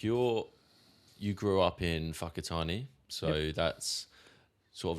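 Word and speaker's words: Whakatane: And and that is a real name, Fakatani. But it's spelled like Wakatani, isn't it? Wh Yeah. Yeah. W pretty much. But we say the wh is a f in the mold language.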